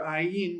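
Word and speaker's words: ayin: That is your Iin, which is one of your silent letters. Remember, you have two silent letters. There's no sound to them.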